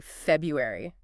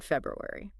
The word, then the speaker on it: February: but a lot of people just say February they just swallow that first R oh wow you're right I've definitely heard that I might even do it myself it's so common that it sounds almost right but embracing that first R I don't know it just adds a touch more Precision imagine you're like presenting